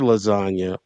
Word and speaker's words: lasagna: Right now, what he's talking about is because the G is silent in the word lasagna, but he's also saying